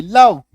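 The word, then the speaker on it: live: लाइव दोनों उच्चारण होता एलआईवी का तो कंफ्यूज मत होना। लाइव मतलब सजीव डायरेक्ट है ना जो हम लोग देखते हैं जैसा अभी आप क्लास कर रहे हो। एल लीव मतलब रहना क्योंकि इसका दो मतलब है इसीलिए दो उच्चारण भी है।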